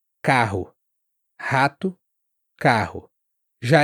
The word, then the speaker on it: carro: Esse R, ele ele tem um som parecido até com o do H no inglês americano, rato carro.